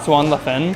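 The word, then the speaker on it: 酸辣粉: I think this is called Swan La Fen. I say it like a French accent.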